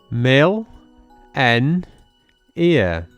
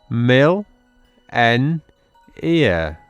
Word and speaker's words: millennia: take a look at how we pronounce this word Mill n ear and again Mill n ear fantastic you've done really